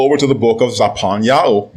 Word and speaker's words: Zephaniah: Now let's go over to the book of Zaphaniah, mispronounced as Zephaniah, chapter 3 and verse 9.